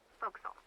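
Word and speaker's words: forecastle: ship but it's pronounced fokal why is that try pronouncing it like an English sailor with no formal education SP Castle folville over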